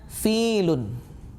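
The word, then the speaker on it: فيل: Terkadang ada orang yang mungkin dia sulit mengucapkan huruf fa sehingga dia mengucapkannya dengan huruf pa. Nah, ini amat sangat keliru. Ya, harus diucapkan dengan fa. Ya, makhraj hurufnya antara bibir atas dan bibir bawah, bukan pa tetapi fa.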